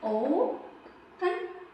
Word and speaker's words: open: It's not pronounced like open it and is pronounced it like old. The first part takes stress. Ya'ni birinchi qismi stress olarkan. Open.